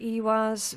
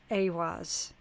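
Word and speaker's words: Ehwaz: Um I call it Ewaz, which is correct. Some people uh depending on what region they're from, they might pronounce it as Awaz, right?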